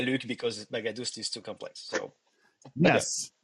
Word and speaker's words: Baghadoust: But my father's come from Iran, and the right way to pronounce it will be a little bit different. The GH make a H sound, and the second A is a different A, so it's Baghadoust.